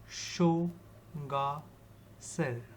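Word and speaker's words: Sangetsar: Formed as a result of an earthquake, Sangitsar Lake in Arunachal Pradesh is spellbinding in its beauty. The name of high altitude lake is actually pronounced as Shoga Sir by locals after the Shokatsen village that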